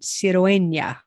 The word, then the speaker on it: Cirueña: See, when we get so many vowels, sometimes it's hard to figure out where to put the accent. Cirueña. So it's the second to last syllable.